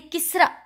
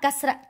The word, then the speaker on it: kasra: I heard that in Somalia, they used to say kisra, like this, not kasra, kisra.